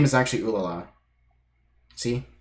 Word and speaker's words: Ulala: Yeah, it's Ulala. It actually is pronounced like that.